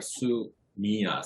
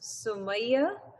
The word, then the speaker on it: Sumaya: I have really bad eyesight, so when it's small, it just looks like Sumia, sorry. Oh, okay. Well, technically, it's an Arabic name, so it's supposed to be pronounced Sumaya, but because of how the English alphabet works, it turns out to be Sumaya.